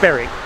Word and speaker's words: Berwick: Sorry, Berwick, not Berwick, Berwick. It's pronounced Berwick.